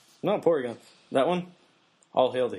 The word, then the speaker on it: Porygon: No, I'm not going to say polygon like an Asian. I No, it's Porygon. Porygon. Yeah. Pronounce the L like an R.